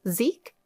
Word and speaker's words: Zachary: His name is spelled Zachary, but pronounced Zeke?